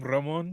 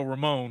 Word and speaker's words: Ramon: uh you you go the exact technical way to pronounce my name Ramon yes you do wanna if you do want to uh just go relax you can go Ramon as long as it's not Raymond I'm good but no